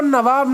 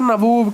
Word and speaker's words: नवाब: भी हम नवाब कहेंगे, बट उसने नवाब को नवाब ना कहकर नबूब कह दिया, नबूब। भाई साहब नवाब को नबूब कह रहा है कौन, ब्रिटिशर्स, क्योंकि उनको भाई साहब उनकी प्रोनाउंसिएशन क्लियर नहीं होगी हिंदी में।